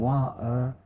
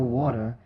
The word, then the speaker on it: water: So instead of saying wa-er for water, say wat-er.